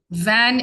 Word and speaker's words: vingt: And van is 20. You just have to remember that. Van. It's written as VINGT, but it's pronounced as van.